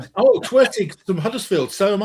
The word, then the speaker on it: Huddersfield: A real person from Huddersfield doesn't pronounce the H. Huddersfield.